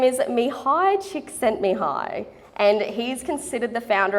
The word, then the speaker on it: Csikszentmihalyi: His name is Mihai Csikszentmihalyi, and he's considered the founder of the flow theory.